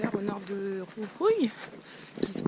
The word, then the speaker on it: Jujuy: arrived in Tilcara about 2 hours north of Jujuy (which is the correct pronunciation of the name of this city) and